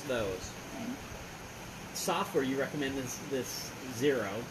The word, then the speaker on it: Xero: software you recommend this Zero, spelled with an X, so I call it XO, or like Xerox. It's like Xerox.